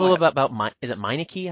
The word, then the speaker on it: Meineke: Can you tell us a little bit about is it Meineke, how you pronounce his name? Yes. Emilio Pepe Meineke, Yeah.